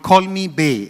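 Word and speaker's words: Call Me Bae: of your projects that's coming up is called Call Me Bay am I pronouncing it right yes can you share a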